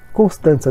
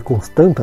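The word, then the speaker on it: Constanța: Acho que o nome do time, apesar de ser Constanta, né, se escrever assim, acho que Constanza deve ser a pronúncia mais, sei lá, acho que é a pronúncia certa aí do time romeno.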